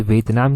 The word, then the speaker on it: Vientiane: VE इसको लिख लेना, आप चाहे अपने हिसाब से प्रोनाउंसिएशन कर लेना। VIENTIANE ये है ये पूरी तरह से। व्यंतन भी इसको कह सकते हैं, जैसे भी प्रोनाउंस करना हो कर सकते हैं।